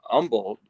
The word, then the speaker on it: Humble: was going down to Umble it's it's spelled Humble Texas but it's pronounced the locals call it Umble and I I went